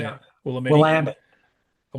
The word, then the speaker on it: Willamette: Willamette.